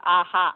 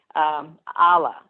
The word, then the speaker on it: Allah: You're not saying it's Yahweh or it's Aha. It's not Aha. I'm saying it wrong. Allah.